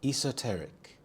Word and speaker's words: esoteric: quintessential symbol of love esoteric esoteric the stress is on the second syllable T esoteric this describes something that